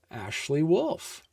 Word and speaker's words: Ashley Wolff: celebrated and award-winning children's book author and illustrator, Ashley Wolff. Perfect Ashley.